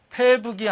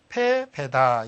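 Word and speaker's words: 敗北: 그 다음 패북이 아니고 시험에도 참 잘 나죠. 패배입니다. 이때 이것을 북이라고 읽으면 안 되고 패배다. 이때는 달아날 배로 읽어야 되겠죠.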